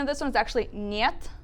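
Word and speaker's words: нет: So the pronunciation of this one is actually niet. It's a little Niet?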